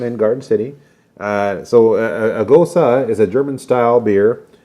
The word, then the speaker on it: Gose: All right, so the next one that we're going to do, it's the Juniper, and it's pronounced Gose.